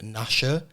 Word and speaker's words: Nasha: I'm here with Nasha. I realised I should have asked before we started, is that the correct pronunciation? Yeah, it's the same as the dog from Dallas the Menace, don't worry.